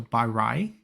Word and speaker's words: Baray: But I think they said that the R-A-Y makes the same sound as like you would pronounce rice in the beginning with the R-I. So Baray would be my guess.